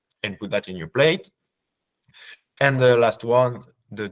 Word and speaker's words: plat: put that in your plate. And the last one, the dessert. You've noticed, I think, that we don't pronounce the last letters, plat, dessert. And then once you are facing this, you can make a choice.